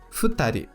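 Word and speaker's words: 二人: O mesmo acontecerá para a quantidade de 2 pessoas, o qual falamos futari. Futari. O futa é a leitura do kanji do número 2, e o ri atribuído ao kanji de pessoa.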